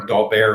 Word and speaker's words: Daubert: You probably heard of the Daubert ruling, or Daubert, it's pronounced, the French term.